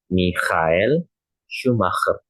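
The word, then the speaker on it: Michael Schumacher: cara membaca di mana yang pertama ada huruf CH itu dibacanya keh. Maka untuk CH yang di sini dibacanya menjadi Michael ya, Mikhail. Sedangkan SCH itu dibacanya menjadi syikh. Mak yang bagian kedua di situ Schumakr ya. Maka menjadi Mikhael Schumakr ya. Mikhael Schumacher.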